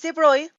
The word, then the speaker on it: de Broglie: un brillante físico francés llamado louis debré aunque pareciera que deberíamos pronunciarlo libro y que es como siempre lo digo en mi mente pero sé que así no se debe pronunciar lo busqué y encontré que se pronuncia más como louis kébreau y quitamos esto y lo reemplazamos con una y en nuestra mente y decimos louis debré en 1924 louis de